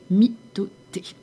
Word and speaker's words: mitote: Alors, votre esprit tout entier est un brouillard que les tolte appellent un mythote. Prononce myoté.